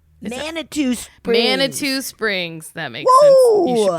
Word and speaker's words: Manitou Springs: Manitou Springs. That makes sense. You should pronounce the I, I guess.